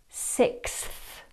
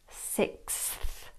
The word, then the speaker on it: sixth: The word sixth positions the TH after a S sound, which follows a K sound.